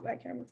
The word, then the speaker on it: bicameral: It's a bicameral system. I can never get it right. That's the right way to say it, bicameral system.